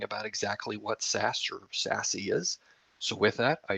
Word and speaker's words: SASE: talk to you about sassy greg you were right that's how you actually pronounce it gartner actually deemed secure